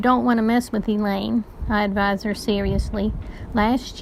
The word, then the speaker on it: Elaine: I can handle Elaine," rhymes with pain.